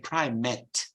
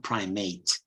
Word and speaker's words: primate: a heteronym of sorts it's the same word but you pronounce it primate when you're speaking of us as you know a species so but when you speak of a high priest you say primet not primate otherwise you call a